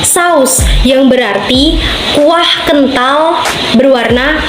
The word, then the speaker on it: saus: Kata ini merupakan kata tidak baku karena terjadi perubahan pelafalan fonem U menjadi fonem O. Menurut KBBI, kata saos tidak baku, seharusnya menjadi saus yang berarti kuah kental berwarna merah.